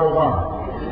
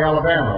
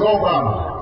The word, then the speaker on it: Obama: this funny name Barack Obama well people would mispronounce it they call me Alabama or they call me Yama and I'd have to